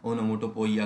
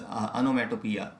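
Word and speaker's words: onomatopoeia: अनोमेटोपिया है, इसका प्रोनाउंसिएशन भी बहुत गलत करते हैं आप लोग, पता नहीं क्या ओनोमोटोपोइया करके, जब दैट इज़ अनोमेटोपिया, ये इसका करेक्ट प्रोनाउंसिएशन है।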